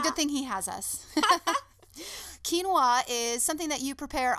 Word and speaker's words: quinoa: you ask it is a whole grain it's spelled like like quinoa but it sounds like quinoa quinoa my husband